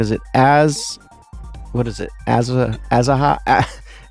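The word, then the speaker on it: Aziaha: Azaha? How do you say it? I'm sure you've watched Isaiah. It many times. Isaiah, that makes sense.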